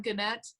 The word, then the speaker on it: Gannett: It's Gannett, not Gannett? I've heard it pronounced both ways. It's both ways.